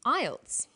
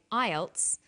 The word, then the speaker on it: IELTS: is called an acronym with an acronym we don't pronounce the individual letters we pronounce it as a word so we say IELTS not i e l